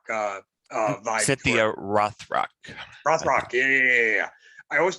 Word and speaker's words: Rothrock: yeah she she kind of had a cynthia reinrock uh uh cynthia rothrock rothrock yeah i always pronounced her name wrong but um i i